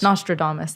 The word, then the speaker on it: Nostradamus: it exactly Damas or domus domus astrodamus Nostradamus Nostradamus thank you Thomas yeah and that's been a lot better I use like um it was Iris or something before and Nostradamus so Thomas is much better a lot of